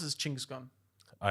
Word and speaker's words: Genghis Khan: I wanna be Human the- history, Genghis Khan.